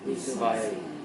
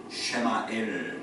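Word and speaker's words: ישמעאל: 이스마엘. 여러분이 이스마엘이란 말이 무슨 뜻인지 아세요? 이스마엘. 원래는요 이 이스마엘이 아니고 정확한 히브리식 발음을 제가 얘기하면 쉐마엘 그렇게 얘기합니다.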